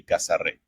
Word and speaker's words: Casarré: So we kind of wanted to write it the way you would pronounce it as a Dominican person. Okay. That would be Casarre.